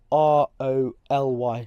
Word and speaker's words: Roly: How do you pronounce the name R-O-L-Y?